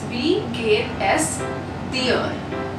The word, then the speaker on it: es: Now the spelling is E and S, but we pronounce it as the normal S, like S alphabet. So it's wie geht es dir?